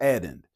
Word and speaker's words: addend: It's spelled just like it sounds. Add end. ED. Like the end of a movie, right? Put the two words together.